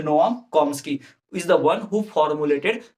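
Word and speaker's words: Chomsky: जी हाँ, ये चॉम्स्की नहीं है, सीएच नहीं पढ़ते, इसको साइलेंट है, ठीक है, तो कॉम्स्की बोलते हैं, नोआम कॉम्स्की, ठीक।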